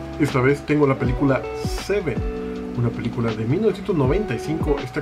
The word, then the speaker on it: Se7en: Esta es una de esas películas que se escribe raro, porque se lee como Seven, pero se escribe con un 7 en medio en lugar de la V.